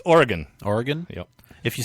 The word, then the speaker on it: Oregon: to talk about that a little bit later pronounce it Oregon it's Oregon Oregon yep if you say Oregon do they